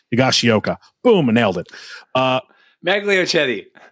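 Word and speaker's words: Higashioka: for uh kyle i have a hard time pronouncing his name higashiyoka boom nailed it uh magliocchetti yeah you got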